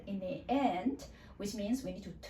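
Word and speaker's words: 一: And with the R sound in the end, which means we need to twist our tongue a little bit in the end.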